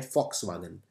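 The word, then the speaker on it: Volkswagen: ये कंपनी है वॉक्सवागन, इसे वैसे प्रोनाउंस करते हैं फॉक्सवागन।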